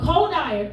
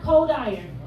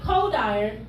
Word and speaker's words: Coldiron: now we have cauldron for congress cold iron uh cole dyer oh i was sitting around all this stuff cold iron he was saying it right cold iron for congress that's what